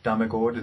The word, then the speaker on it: Ole Demmegard: Ole Dame Guard. Okay. It's like if you change the A and guard with an O. Damagord.